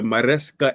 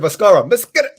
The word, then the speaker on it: Maresca: At the bridge, first game of the season of the Maresca era. So we're going to have to experience his new manager. Yeah, I thought you said Mascara. Pronounce it again? Maresca, yeah.